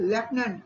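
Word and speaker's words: lieutenant: Pause बोलते हुए pause बोलते हैं ना, पॉज, लेकिन स्पेलिंग PAUSE। और आगे है लेफ्टिनेंट, ये आर्मी का एक पोस्ट है लेफ्टिनेंट, लेकिन स्पेलिंग बहुत ही अलग है, LIUTENENT।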